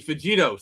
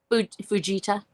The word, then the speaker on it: Fujita: an F1 to an F5, which is the Fujito scale. Am I correct? Yes. I think I'm slightly mispronouncing the guy's name. No, you're. Say again, please. Fujita.